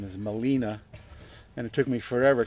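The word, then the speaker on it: Gmelina: the scientific name is Molina and it took me forever to remember that Molina is spelled with a G the G when you pronounce it is silent and as is the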